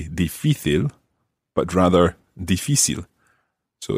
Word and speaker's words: difícil: In the text, María José said, en Canarias no se dice difícil, sino difícil.